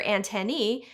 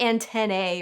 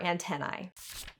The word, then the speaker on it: antennae: Those are antennae, where the AE matches that of algae and Caesar, not antennae or antennae. That said, classical Latin scholars believe AE was originally pronounced I, so they probably won't mind if you opt for antennae.